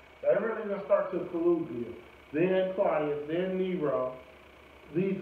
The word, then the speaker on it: Caligula: Yeah, that's how you pronounce it. That really didn't start till Caligula.